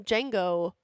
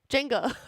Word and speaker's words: Jenga: We're going to do some Django. Jenga. I keep saying it wrong.